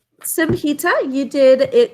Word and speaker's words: Samhi: Samhi.